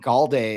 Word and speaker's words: Golday: second round, the Vikings go with linebacker Jake Golday out of uh Did I pronounce Cincinnati Golday, yep, yep.